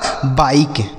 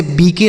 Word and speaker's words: बाइक: इसे पढ़ा जाएगा बाइक। ठीक है? इसे पढ़ेंगे बाइक। इसे बी के नहीं पढ़ेंगे। बिक नहीं पढ़ेंगे। बाइक पढ़ेंगे।